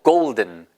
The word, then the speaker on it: golden: 골든이 아니고요. 고울든이에요. 그러니까 우를 너무 길게 발음하시지 말고 보세요. 그냥 두기 쉬워요. 보세요. 골든이 아니고 golden. golden인데 우를 살짝 짧게 보세요.